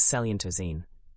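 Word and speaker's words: coelenterazine: Coilentine pronounced roughly as selentoine is used by an enormous variety of marine organisms.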